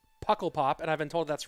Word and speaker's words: Pukkelpop: Okay, let me listen to this pronunciation guide. Pukkelpop. Pukkelpop. Pukkelpop. I'm trying to pronounce it, guys. I'm trying. I'm doing my best impression of the. Thank you for sending me that pronunciation. It's Flemish, I guess.